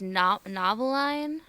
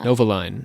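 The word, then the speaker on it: Novalyne: Wait, did she say her name was Noveline? No. Novaline. So, and she wanted to be a writer and her name is literally like novel.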